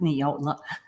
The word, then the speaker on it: Nijole: start yeah so my my name is pronounced neola it's um it's a lithuanian name i'm the daughter of